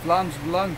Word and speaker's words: Vlaams Belang: I don't know, how do you pronounce that? Belang, Vlaams Belang.